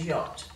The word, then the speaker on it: yacht: in these ones, and in yacht, the silent CH. So let's go through. We've got scent, seen, scissors, crescent, fascinate, debt, doubt, subtle, succumb, and yacht.